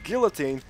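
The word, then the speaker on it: Guillotine: the guillotin and yes I am pronouncing it as guillotin deal with that and I'm also using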